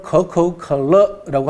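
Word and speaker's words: 可口可乐: 중국 발음으로는 커커컬러라고 합니다.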